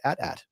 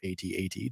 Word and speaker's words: AT-AT: the allterrain armor transport the at at or at8 depending on how you prefer to pronounce it now uh the design